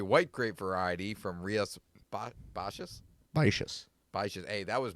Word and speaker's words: Baixas: can find, it is a white grape variety from Rias Baixas. Baixas. Baixas. Hey, that was me remembering a pronunciation from like 8 months ago.